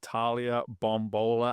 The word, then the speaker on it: Bombola: so excited to be sitting down today with Talia bombola I'm just realizing I never asked you how to pronounce name did I nail it perfect we're